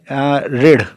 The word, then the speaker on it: ऋण: ठीक है दोस्तों, इसको रिजु इसलिए पढ़ते हैं दोस्तों क्योंकि जो हमारा ऋण है, ये ऋण, इसका हिंदी में जो उच्चारण है वो री हो गया है।